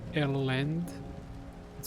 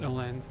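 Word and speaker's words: Ellende: But besides Black Ceiling, there's two more artists, one being Elend. It's spelled E-L-L-E-N-D-E. I think it's pronounced Elend, or Elendi, or Elend, I'm not exactly sure.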